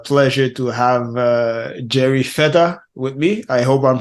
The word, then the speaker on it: Fetta: I have the pleasure to have uh Jerry feta with me I hope I'm pronouncing your name right yeah that's correct great